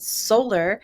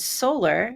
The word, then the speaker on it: Soler: it was pronounced ounc I thought we pronounced It Solar here and then somewhere